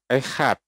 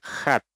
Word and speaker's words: Echad: tulisan Ibraninya untuk kata echad itu khat. Ya, ini artinya satu atau artinya esa. Nah, sekarang kita lihat Nandar bacanya bukan echad, tapi Nandar bacanya bukan echad, tapi dia baca dengan e-nya dihilangin.